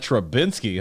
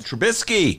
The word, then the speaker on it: Trubisky: How about that Trubinsky, huh? I don't believe there's an N in that name. Let me double check. Trubinsky? Nope. No. How do you pronounce it? Trubisky. Trubisky.